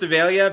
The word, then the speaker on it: Avalia: So it's pronounced Avalia because my wife says so, and I listen to what that woman tells me.